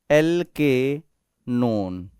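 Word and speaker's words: alkanone: ध्यान से देखिएगा, alkyl एल्केनोन, this is नोन नॉट नन, NONE, नोन। Ketone, ketone आता है ना, KETON, कीटोन, तो ओन प्रोनाउंस करना है आपको, कीटोन, ओन।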